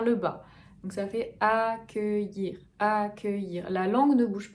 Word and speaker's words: accueillir: A, très ouvert, que, accueillir.